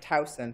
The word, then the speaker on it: Towson: Did I pronounce that-- JONATHAN LAZAR: Towson. JOCELYN KENNEDY: Towson, sorry.